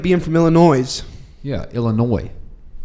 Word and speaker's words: Illinois: being famila noise yeah Illinois there's an S at the end bro so you mean